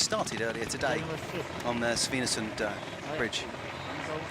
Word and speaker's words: Svinesund: earlier today on the Svinesund bridge. Is my pronunciation okay? Svinesund, it's good, is it? Yeah, it's very good.